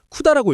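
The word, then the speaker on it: CUDA: 여기서 아주 중요한 이름이 하나 등장하는데 바로 쿠다입니다. 쿠다라고 읽어요.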